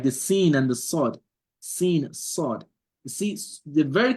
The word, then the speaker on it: س: So the learning of the tajweed makes you to know, oh, the sin is pronounced with the open mouth, and the sod is pronounced with a round mouth.